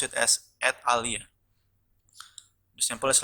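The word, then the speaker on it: et alia: from latin words mean and others they they pronounce it as at alia the sample is like this and then period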